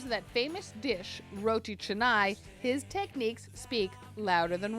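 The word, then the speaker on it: canai: Roy means bread and chai yes pronounced with a CH derives from chai spelled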